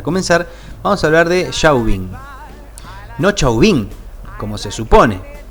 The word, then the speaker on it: Chauvin: de fotos de familia como es francés se escribe sin acento chauvín será entonces y si uno la